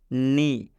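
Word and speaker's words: knee: example समझा देते हैं जैसे नी नी में आप देख सकते हैं के आया है के के बाद से एन आया है इसलिए ये के का उच्चारण हम लोग नहीं करेंगे मतलब के साइलेंट हो जाएगा स्पष्ट यहां पे हिंदी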